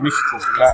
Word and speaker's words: México: como debemos, pues pronunciamos México. La X la hacemos sonar como una J.